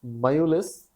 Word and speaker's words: Mjolis: उसने पुरानी ताशों की एक डिब्बी निकाली and played Mayulis with his guest until bedtime. और खेलने लगा. Mayulis here Mjolis, that it is pronounced as Mayulis. ये स्वीडन स्वीडिश लैंग्वेज का वर्ड है।